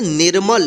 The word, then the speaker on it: निर्मल: निर्मल। यानी नी के बाद आधा र का उच्चारण होगा, ठीक है, निर्मल, ठीक है।